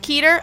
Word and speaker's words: Keter: You're pronouncing Keter the right way.